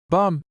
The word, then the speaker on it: bomb: Today bomb is pronounced bomb, but in the early days it was commonly pronounced bum.